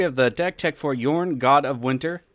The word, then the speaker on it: Jorn: the deck tech for yarn god of winter it is pronounced with the y so let's see what